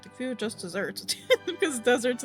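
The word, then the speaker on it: just deserts: The food just desserts because deserts in this phrase is pronounced the same as a sweet treat comes from the verb dessert.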